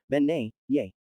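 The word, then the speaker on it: Bean Nighe: brook or stream and it is actually pronounced Ben yay if she looks hideous and has webbed feet then it is best not to get too close because it is the bean NY the spirit of a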